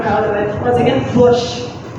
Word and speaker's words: борщ: So it's borscht, which is our national soup. We are proud of it. Once again, borscht.